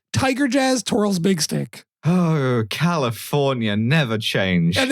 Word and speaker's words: Big Stick: So, the mayor's name, which you just pronounced... How'd you do it? You said insanely wrong. I said Tigarius Twirl's Big Stick.